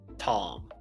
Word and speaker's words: Tahm: were chasing was named Tom. Hey man. Unfortunately, they didn't until they saw the figure realize that it's spelled Tom Tahm.